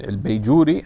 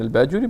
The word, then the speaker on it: Bajuri: small village and then they differ on how the name is pronounced um between el beijuri and al baduri but he should be familiar